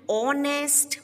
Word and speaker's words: honest: Sixth, he is an honest man. Again, H is silent and O is a vowel after it.